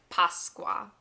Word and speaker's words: Pasqua: Obviously, this is an Easter video, so we have to know how to say the word Easter, which is Pasqua.